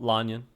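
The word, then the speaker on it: Lan Yan: Well, Lanyan is how Ningguang just said it.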